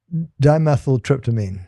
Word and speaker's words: dimethyltryptamine: dimethyltryptamine.